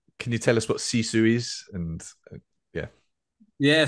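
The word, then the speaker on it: sisu: your book about this is in search of cisu is that how to pronounce yeah can you uh can you tell us what cisu is and yeah yeah C is a a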